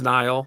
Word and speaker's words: Nile: Yeah, well, I have my name's Nile, like the river, and usually people can't get that right, so I'm always like, what's your name? I'm like Nile, like the river. Just think of the river. That's it. Spelled the same, sounds the same.